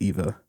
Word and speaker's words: Eve: Excuse me, it's Eve, but he can't pronounce it because he's like not made to speak. So he says Eva.